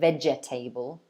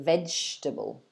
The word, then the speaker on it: vegetable: vegetable is another one don't say veggie table say vegetable so three syllables okay so let me